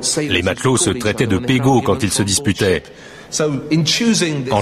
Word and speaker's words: PGO: PGO, prononcé Pego, était un mot qu'il avait appris lors de ses voyages quand il était marin.